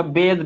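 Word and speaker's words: bathe: और एक चीज याद रखना, इसका प्रोनाउंसिएशन बात बेथ नहीं होगा, बेद होगा, बेद बेद, बेद दो का साउंड आएगा, वेद, वेद नु है वो वाला वेद नु है नहीं, ऋग्वेद सामवेद यजुर्वेद इस तरह का वेद नहीं है, इसका बस प्रोनाउंसिएशन वेद होगा, ठीक है।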